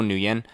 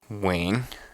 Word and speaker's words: Nguyen: say it right and I would just tell people new yen but I've since learned that if you want to say ng u ye and correctly you should check it out here's how it supposed to sound Wayne I know I'm not talking about when we're not talking about no chicken wings we gained some wings it's Wayne spelled out wi n wing